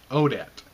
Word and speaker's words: Odette: i the main actresses name i can barely pronounce it's odette o d e t t e tell like